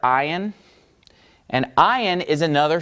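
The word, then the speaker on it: עין: After samech, we have the letter ayin. Ayin. It's pronounced just like the Zion. Remember the letter Zion? Okay? Except it's without the Z. It's ayin.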